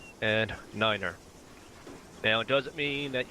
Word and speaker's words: niner: And 9 is said like niner. So, tree, 5, and niner.